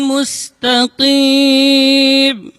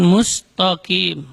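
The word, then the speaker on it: مستقيم: Itu tidak boleh dibaca tebal di situ. Bukan mustaqim, tapi musta. Itu ta-nya tipis. Kemudian huruf qaf dibaca dari aqsal lisan, di pangkal lidah. Mustaqim.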